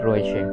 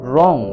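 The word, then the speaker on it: wrong: উচ্চারণ হয় না দেখো রং ডব্লিউ আর ও এন জি রং রং মানে হলো ভুল ডব্লিউ এরপরে আর আসছে তাহলে ডব্লিউ এর উচ্চারণটা সেই জন্য সাইলেন্ট হয়ে যাচ্ছে বা ডব্লিউটির উচ্চারণ হচ্ছে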